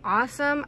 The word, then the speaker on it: Aosom: These come from a company called Awesome. I think that's how you pronounce it. It's A-O-S-O-M.